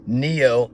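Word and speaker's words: pneo: Speaking of the Matrix, they get Neo, N-E-O, they get his name from this Greek word, neo. The P is silent.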